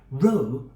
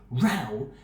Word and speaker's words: row: When pronounced like no, row refers to a straight line of people or things.